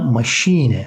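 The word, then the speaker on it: Maschine: manası ile iki farklı manası var ya da maşine maşine bakın Burası EC7 şey harfine koyuyoruz Machine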